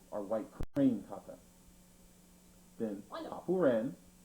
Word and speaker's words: Papuren: Then Papuren, also pronounced paipuren or happuren, which means 8 steps, or 8 consecutive steps.